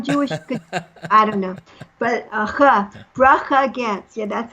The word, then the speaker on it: Bracha: I don't know why, but people that aren't Jewish can't do the ch.